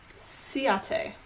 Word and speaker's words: Ciaté: I found an article on InStyle's website, and it is pronounced Ciaté.